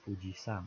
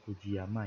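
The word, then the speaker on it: 富士山: Sang Mbah Ponco katanya ada fujisan atau Gunung Fuji Jadi bukan Fujiyama ya jadi Puji sang misal kalau di Indonesia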